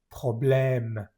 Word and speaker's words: problème: Luego tenemos solo una E que está acentuada, como el renglón amarillo. Problème, problème.